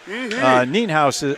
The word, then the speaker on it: Nienhaus: Nienhaus apparently is the correct pronunciation.